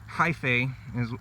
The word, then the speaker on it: hyphae: that's hyphal connections here hyphae is how you pronounce that but those are the